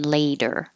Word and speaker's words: later: I hope that we achieve it sooner rather than, that's a lot of the, rather than later. And the T changes to a D in later.